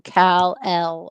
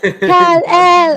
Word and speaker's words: Kal-El: I never want to hear anyone call him Kal-El ever again. Oh yeah, Kal-El. Oh my god. No. Oh, how can you poorly act 2 syllables? 2 syllables is all you had to say, gal. No. Kal-El.